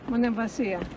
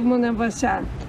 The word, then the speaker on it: Monemvasia: How do you say it? Monemvasia or Monemvasia? Monemvasia. No, it's not Monemvasia. A lot of people, they call it both ways.